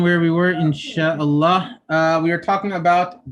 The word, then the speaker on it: Allah: but anyway so uh if the lamb is in the word allah or allah then the lamb is going to be pronounced heavy allah allahumma we'll go